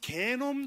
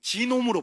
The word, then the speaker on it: 게놈: 자, 근데 이게 발음이 좋아 안 좋아? 그래가지고 우리나라 신문기자들이 이거 처음 소개할 때 힘들었어. 그래가지고 야, 게놈은 좀 발음이 이상하다. 지놈으로 바꿨어. 지놈. 그 지놈도 별로 어감이 안 좋죠. 그래서 지금 그냥 게놈이라 하는데, 예.